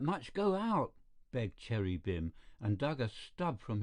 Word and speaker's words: Bim: manikov's eyebrows Rose your beam is that how you pronounce it Bim said the other b-i-m Christian name Cherry Cherry